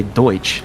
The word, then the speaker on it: Deutsch: say Pennsylvania Dutch and should technically be pronounced Deutsch but you know it's